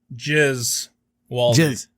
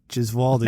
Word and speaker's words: Gesualdi: God damn it, Gesualdi. Okay. Yeah, it's hard to forget once you hear that first syllable. Gesualdi.